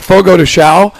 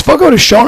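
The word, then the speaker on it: Fogo de Chão: dinner last night at Fogo to Sha is Fogo to show. We all been mispronouncing that one, too.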